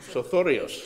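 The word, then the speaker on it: Sothoryos: How do you pronounce that? I don't know. Sothorios.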